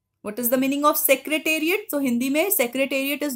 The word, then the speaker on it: Secretariat: Now, the Rashtrapati, R-A-S-H-T-R-A, Rashtrapati, P-A-T-I, Rashtrapati Bhavan, B-H-A-W-N, the Rashtrapati Bhavan, the Sansad Bhavan, the Central Secretariat, S-E-C, Sec-R-E-R-E, Secretariat, T-A-R-I-A-T, Tariat.